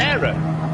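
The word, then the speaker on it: Éire: E-I-R-E. Era. I've never... Era. All right, good. I've been saying it right all these years.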